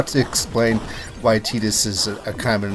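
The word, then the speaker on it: Tidus: and whatnot even when Titus I will never pronounce it the other way doesn't ask okay sorry I don't mean to get all serious but tedious just such a silly pronunciation um I don't know maybe T this makes sense to other languages it's just I don't know it sounds very much like Cletus I don't know how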